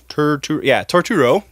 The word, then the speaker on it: Turturro: John Turturro. Turturro, I said it right, is making a sequel called Jesus Rolls.